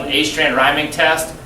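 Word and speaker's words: Åstrand: well this called an a strand rhyming test it's really pronounced o strand rhy rhyming but it's it's spelled a strand it's in your lab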